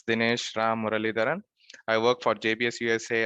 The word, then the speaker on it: Muralidharan: Uh it's a little my last name is little bit hard to pronounce but it's pronounced as Murali Daran. So it's DH Ram Murali Daran.